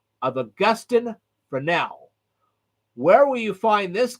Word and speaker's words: Fresnel: I know it's spelled f-r-e-s-n-e-l but it is pronounced for now okay and some people say it's pronounced Frey now okay fine whatever the point is we're going